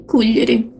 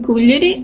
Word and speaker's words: Cuglieri: The 1668 timeline takes place between Cuglieri and Cagliari, the capital of the kingdom. Both names have the accent on the first vowel.